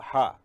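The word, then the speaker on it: ح: Then you go for Ha. This is Ha. Ha should be pronounced from inner part of the throat, pressing the end of the tongue.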